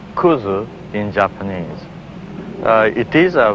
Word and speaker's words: kudzu: mindless unkillable ghosts the American coastline is properly pronounced kuzu in Japanese it is a vine belonging to